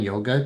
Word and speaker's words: yoga: But um you could say yoga or yog, but when I lived in India, it was definitely yog without the uh the almost the longer a at the end.